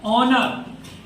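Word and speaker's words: honour: Next है, इसमें देखिए एस साइलेंट होता है, ONOUR को उच्चारण करते हैं ऑनर।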